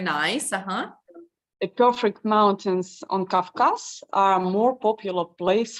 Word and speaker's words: Caucasus: The perfect mountains on Kafkas are a more popular place for tourists. Yes, and we pronounce it Caucasus.